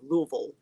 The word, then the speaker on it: Louisville: I live close enough I try to say it correctly instead of you know Louisville you gotta kind swallow it that's what the folks from Kentucky tell me it's kind of Louisville it's kind of the